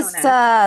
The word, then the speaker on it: Mesa: Mesa.